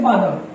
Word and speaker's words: father: आपका हो गया FATHER, ठीक है, तो इसको प्रोनाउंस करते हैं फादर, लेकिन इसको प्रोनाउंस करेंगे फादर, आर का प्रोनाउंसिएशन खत्म कर देंगे।